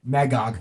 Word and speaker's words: Magog: always screw up his name in Kingdom Come Magog Magog thank you I knew I was saying it